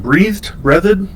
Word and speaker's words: Breathed: Breathed. Don't know that one. It's spelled like breathed.